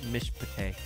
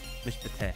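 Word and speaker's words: מִשְׁפָּט: So if we look at our example again, Mishpate. Mishpate. The first one, Mish, silent, not pronounced. The second one, huh, so real short I sound.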